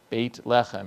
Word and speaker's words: Beit Lechem: Beit lechem is how they pronounce Bethlehem in Israel, and so it is the house of bread.